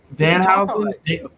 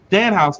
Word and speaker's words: Danhausen: Danhausen. Danhausen.